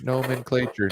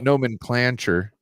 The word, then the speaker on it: nomenclature: is CL not clay clay nen clure nen clature not nen clancher put away your